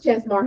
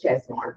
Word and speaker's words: Chesmar: Ches just Chesmar home. We're under Sasui House. Okay. So, the brand is Chesmar.